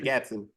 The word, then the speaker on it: Gatson: he's a vocal coach Frank Gatson Gatson there we go I always get his name wrong because of all the te's and SES in the middle he said to Usher